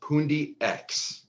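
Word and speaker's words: Pundi X: The correct pronunciation of this coin is PoonDX.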